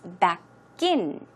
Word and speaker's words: back in: Now, in today's actual talk, we had back in. The stress, as you see, goes on in, right? It's pronounced back in. It's not back in, it's back in.